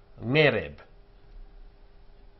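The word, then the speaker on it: ערב: Va yehi ngereb. The e under the ngayin is a tone long e, not a short e.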